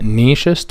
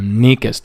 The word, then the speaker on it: nächste: واللي جاي واللي فات زي نيكست ولاست كده في الإنجليزي عندنا اسمها نيشست ولاتست. في ناس تانيين بينطقوها نيكست، يعني النطقين صح، نيشست أو نيكست النطقين صح.